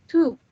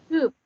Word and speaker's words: Typ: Kemudian di sini ada T, upsilon, V. Dibacanya tube. Simbol tube. Bacanya tube. Tube artinya pemuda, cowok ya, kalau kita ngeliatnya itu cowok.